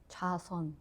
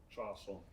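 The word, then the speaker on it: 좌선: How do you say? 자선. Chason. Yeah, 자선.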